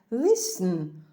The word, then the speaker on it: listen: Отже L t n t мовчить а слово вимовляється Listen слухати причому завжди із прийменником to Listen To